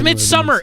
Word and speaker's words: Midsommar: It's spelled that way because that's the Norwegian spelling, but they don't say summer. It's summer. It's midsummer. The movie takes place in the middle of summer. It's midsummer. It is a midsummer.